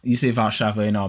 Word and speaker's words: Warszawa: It's in a nice part of Warszawa, which is what you call Warsaw, but you say Warszawa in Polish.